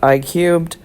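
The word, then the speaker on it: I³: This theory, pronounced I-cubed, is a general theory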